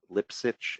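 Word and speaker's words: Lipsitch: Mark Lipset I think is the way he pronounces it M lips itch Li psi CH I think Harvard epidemiologist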